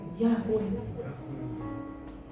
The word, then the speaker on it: Yahweh: Jadi dibacanya Y, H, W, H. Apa Y, H, W, H? Yahweh. Yahweh.